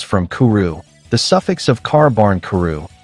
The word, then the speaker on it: Kābankuru: First of all, Culumon's name comes from kuru, the suffix of carbarn kuru, the Japanese pronunciation of carbuncle, an elusive mythical critter